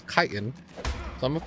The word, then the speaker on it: chitin: I'm gonna go ahead and grab its fucking chitin, apparently is how it's pronounced. I pronounced it chitin for a while, but it's chitin.